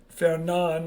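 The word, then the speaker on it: Fernand: There's the silent D on Fan. Fernan, I believe is how you pronounce it.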